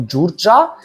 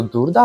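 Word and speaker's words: Đurđa: А наступна у нас це, якщо я правильно розумію, це читається як Джурджа. Деякі кажуть просто Дурда, але напевно це Джурджа з піснею Домінос.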